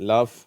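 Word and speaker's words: laugh: இங்க இந்த வார்த்தைகள்ல எல்லாம் ஃபு ஃபுன்னு முடியுது லஃப் காஃப் ரஃப் இந்த வார்த்தையில வந்து அப்படியே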